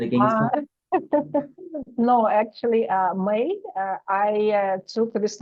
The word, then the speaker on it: Mei: They spell it MEI, and I am from Russia, so I have to get a passport in Russia. So that's why they wrote it in this way, but I pronounce it like May, like the month of May.